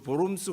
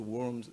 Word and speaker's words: Worms: 예, 이것이 뭐 루터가 직접 한 말인지 아닌지에 대해서는 약간 분분합니다만은 그걸 떠나서 어쨌든 이 사건 앞에서 소위 그 보름스 회의라고 하는데 독일어 발음으로 영어로 이제 worms 이렇게 되겠지만은 다이어트 오브 보름스에서 황제 앞에서 굴하지 아니하고 당당하게 자기의 믿음을 소신껏 지켰다라고 하는 유명한 사건이 있습니다.